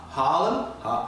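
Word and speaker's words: Haarlem: in sort of well would you pronounce that harlem yeah and then the double a changes the uh the pronunciation that you have i mean i work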